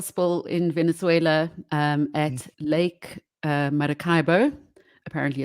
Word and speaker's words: Maracaibo: So there's currently an oil spill in Venezuela at Lake Maracaibo. Apparently it's pronounced like that.